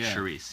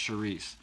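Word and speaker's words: chouriço: but you say it like Charisse, Yeah, yeah. it looks like Chorico, but it's pronounced Charisse.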